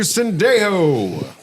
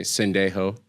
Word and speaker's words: Sendejo: Dejo is still technically 2 syllables, but you don't have time to say Sendejo.